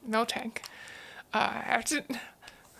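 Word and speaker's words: Miltank: a one one of milk tank mil tank uh I have to I'm having like the hardest time not pronouncing a k after the mil and milk tank you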